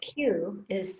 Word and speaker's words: qi: think i would have put in k but q is the the conventional spelling of qigong so q i q i is pronounced qi okay i've also probably seen it